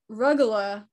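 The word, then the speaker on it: rugelach: pronouncing their name correctly i go with the short u as in rug but perhaps the u is long as in rue recently i decided to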